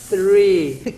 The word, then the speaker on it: three: Então, quando você tem o TH em inglês, você coloca a linguinha para fora, assim. three.